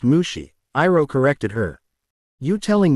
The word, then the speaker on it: Mushi: It's pronounced Mushi, Iroh corrected her.